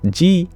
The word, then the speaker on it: ji: you for your rose G but not spelled like the letter G but j i g is an honorific in Sanskrit so I can just